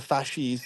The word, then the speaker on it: fasces: I know that's how it's pronounced. The fasces.